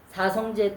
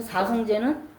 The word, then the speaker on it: 사성제: 자, 오늘은 지난 시간에 예고해 드린 대로 좀 어렵긴 하지만 사성제 또 이야기를 좀 해볼까 합니다. 사성제는 뭐냐? 네 가지 성스러운 이 제자는 뭐 원래 한자 채자 발음이라고 하는데 진리란 의미로 쓰일 땐 제자로 발음이 됩니다.